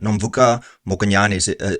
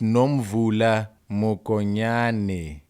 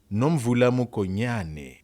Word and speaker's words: Nomvula Mokonyane: Nomvuka Mokonyane, who's the Deputy Secretary General of the ANC, has in the past emphasized, Hey, it's Nomvula Mokonyane, you idiot.